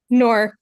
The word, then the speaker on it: Nur: Nur, is that how you pronounce it? Nur, correct. Yes.